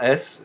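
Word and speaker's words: С: comme ça qu'elle s'appelle c'est un S ça fera le son ce comme comme notre s à nous et et voilà donc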